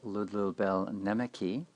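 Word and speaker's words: Ludlul Bēl Nēmeqi: A Babylonian document known as I Will Praise the Lord of Wisdom Babylonian pronounced Ludlubel Nemeki, we find a disease strikes down a pious man.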